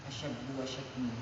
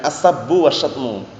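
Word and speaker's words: السبّ والشتم: sesama manusia apa tadi asabumu bacanya yang tepat ya asabbu wasatmu pertama Sin kedua syin asabu wasatmu paham ya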